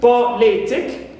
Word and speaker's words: politic: one from the end also uh politic the same thing politic so here also we don't stress penal which is Lee but we stress the anti penalty the third one from the end which is po here also it's an